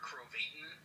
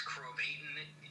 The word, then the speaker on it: Krovatin: My full name is Krovatin. It's Krovatin, not Krovatin. It rhymes with Satan.